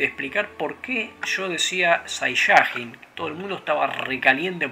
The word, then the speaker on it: Saiyajin: Resulta que, obviamente, yo dije Saiyajin y estaban todos enojados porque lo pronunciaste mal, boludo, es Saiyajin.